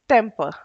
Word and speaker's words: temper: so the word is temper temper e t-e-m-p-e-r guys i want to mention something here is whenever r comes at the end of any word the r is supposed to be silent like you want uh